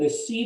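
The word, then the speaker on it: receipt: इ र ट अच्छा यह जो वर्ड है इसको हम रिसी कहते है इसमें प जो है व साइलेंट है हम रिसी नहीं कहते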